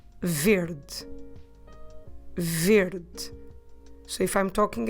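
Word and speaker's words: verde: is weird but although although it ends at e we drop it when we pronounce it so we say verd verd so if i'm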